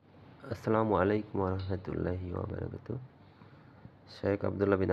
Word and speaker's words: আসসালামু আলাইকুম: থাকার জন্য দোয়া করা সালাম উচ্চারণ করতে হয় এভাবে আসসালামু আলাইকুম অর্থ আপনার প্রতি শান্তি